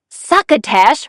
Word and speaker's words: succotash: Succotash rhymes with bash.